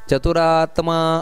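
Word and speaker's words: ಚತುರಾತ್ಮಾ: ಇನ್ನು ಕೃತಾ ಕೃತಹ ನಂತರ ಚತುರಾತ್ಮ ಅಲ್ಲಿ ದೀರ್ಘ ಇದೆ ಅದರಿಂದಾಗಿ ಚತುರಾತ್ಮ ಚತುರ್ವ್ಯೂಹ ಇಷ್ಟೇ ಅಲ್ಲ ಚತುರಾತ್ಮ ಅಷ್ಟೇ ಅಲ್ಲ ಚತುರಾತ್ಮ ದೀರ್ಘ ಬರಬೇಕು ಅಲ್ಲಿ ಚತುರಾತ್ಮ ಚತುರ್ವ್ಯೂಹ ಚತುರ್ದಂಶ ಅಲ್ಲಿ ಚತುರ್ವ್ಯೂಹ ಚತುರ್ವ್ಯೂಹ ಹಾಗೆ ಚತುರ್ವ್ಯೂಹ ಚತುರ್ದಂ ಚತುರ್ಭುಜಹ ಈ ರೀತಿ ಉಚ್ಚಾರಣೆಯನ್ನು ಮಾಡಬೇಕು ಇಲ್ಲಿ ಭಗವಂತನ ಯಾವ ಯಾವ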